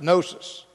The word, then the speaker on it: gnosis: the Greek word to know is the word gnosis, gnosis, but it's pronounced gnosis.